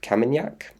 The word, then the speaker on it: Kamenjak: And then Croatia, there's this place called Cape Kamenjak. I think the J is silent, which is just south